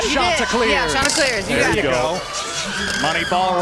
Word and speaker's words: Chanticleers: Yeah, Chanticleers.